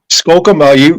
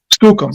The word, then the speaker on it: Skookum: How do you spell that? Skocum, you're asking the wrong person to spell anything.